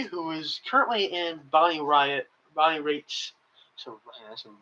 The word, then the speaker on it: Raitt: You have Ricky, who is currently in Bonnie Raitt's. That's a rate. Rate. R-A-T-E. It's pronounced like that. I mean, it's pronounced rate, but it's R-A-I-T-T.